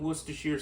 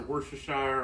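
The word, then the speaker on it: Worcestershire: a little bit of worshir sauce or worshshire or washer sister, however you want to pronounce it, depending on what part of the country or the world that you're from.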